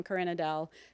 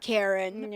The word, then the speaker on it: Karin-Adele: It's like Yeah, I was like, I know you're not Karen. I No. know you're not a Karen.